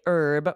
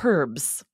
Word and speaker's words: herb: Aubrey what's that so in the US we say herb with a silent h Rosemary time all of these different herbs but in the UK they pronounce that H and they say herbs which sounds so funny